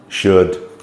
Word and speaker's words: should: cold fold hold uh but beware if we get o u l d um it makes a different sound there's only a few words so some examples are could should would so the um the L becomes silent um on those words